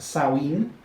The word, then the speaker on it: Samhain: Now, neo-pagans tend to celebrate the New Year on Samhain, pronounced Samhain.